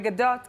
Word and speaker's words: Gadot: The Gadot can be better. Gadot. More T at the end.